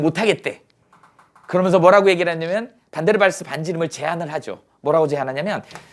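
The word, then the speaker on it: van der Waals: 뭐라고 읽어요? 반데르발스야.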